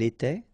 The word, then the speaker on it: étaient: Remember, final S, here, here, final T, and then here, E and T, you don't pronounce them. So you will get était, okay, for all these forms, okay? J'étais, tu étais, il était, elle était.